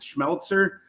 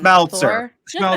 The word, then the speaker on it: Smeltzer: How do you pronounce it? Schmeltzer. I'm not great at name pronunciation. Come on, Smeltzer.